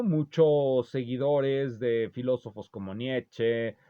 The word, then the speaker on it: Nietzsche: seguidores de filósofos como nietzsche como Niche Niche ya pronuncié la e como quieren muchos de los que ven este canal y me corrigen tan seguido u otros avenidos